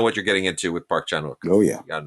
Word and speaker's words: Park Chan-wook: The one of these arrows that I'm really, really fond of is the Park Chan-wook, or Park Chan-wook, I'm told is the correct pronunciation.